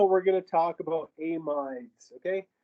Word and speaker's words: amide: going to talk about amides okay sometimes people pronounce them amids um i worked with a british guy who called them amides so it doesn't matter what you call it as long as